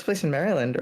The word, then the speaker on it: Maryland: Wait, is it Maryland? Is it M A Maryland? Maryland. Yes. Oh, M A R Y. Sorry, I thought you were saying it like this.